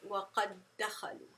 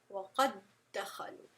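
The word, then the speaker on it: وقد دخلوا: It's almost like the first one disappears, the first letter with the sukoon disappears, and we're just pronouncing the second letter, which is the same as the first, as if it has a shadda, right?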